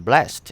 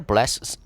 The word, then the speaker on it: blessed: In this sentence, which is a fixed expression, blessed is pronounced as two syllables. Blessed. Example: the father blessed his son before the wedding. In this sentence, blessed is pronounced as one syllable, blessed.